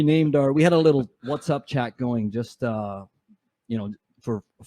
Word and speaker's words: WhatsApp: It's WhatsApp, by the way, Glenn. WhatsApp. What's up? WhatsApp. App? App. It's an app.